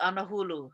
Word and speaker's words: anahulu: The old word for 10 is anahulu. So there's different ways that other people pronounce it. It's sefulu in some, or sehulu, nahuru, angahuru, anauru. Those words are all the same. It's a way to say 10.